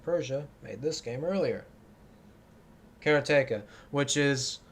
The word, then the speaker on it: Karateka: Karateka, which is, I'm pronouncing it that way because that's how Jordan Mechner himself says it.